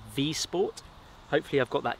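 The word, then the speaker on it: Wisport: So this is the V-Sport Woodcraft in brown. It looks like it's spelt Wii Sport, but because it's Polish, they pronounce it, I believe, V-Sport.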